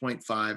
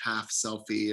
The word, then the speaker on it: 0.5 selfie: is how it's pronounced 0.5 it's not pronounced half selfie or anything like that so these are Selfies